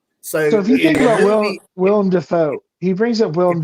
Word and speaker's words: Willem: Willem Dafoe. It's not William. It's Willem. That's true.